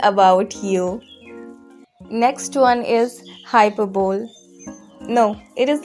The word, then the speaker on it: hyperbole: Next one is hyperbole. No, it is not like that. You don't have to pronounce in this way because this is incorrect pronunciation. Its correct pronunciation is hyperbole.